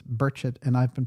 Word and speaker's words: Burchett: Yes, he wants it pronounced Burchett and not people try to correct me and say it's Burchett. No, he says it's Burchett and I've been pronouncing it Burchett.